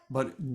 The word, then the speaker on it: pi: a b that's uh P apostrophe I pronounced B with the bus sound and you would it